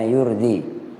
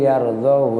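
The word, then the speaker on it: يرضه: Nah kemarin saya bacanya yurdi. Nah itu yang pada ayat wa in taskuru yardhahu lakum.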